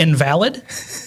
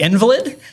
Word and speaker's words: invalid: And the whole time I kept saying the invalid instead of the invalid. And I said it the whole time. And God bless everybody's heart. Nobody told me I was saying it wrong, which is beautiful, until a long time after my beautiful wife, probably a year later, was like, yeah, that's it's not an invalid. It's an invalid.